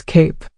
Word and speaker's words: cape: Now add a silent E to the end, and it becomes cape. Suddenly, that A isn't saying ah anymore, it's saying its own name, I. The E itself is silent, but it completely transformed the word and the sound of the vowel before it.